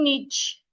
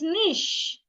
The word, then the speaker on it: niche: It's not niche. It is nish.